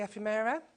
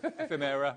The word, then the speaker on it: ephemera: got here so this is the um the epimera uh I always pronounce that wrong EPA that's right yeah ephemera whatever I always pronounce it wrong either way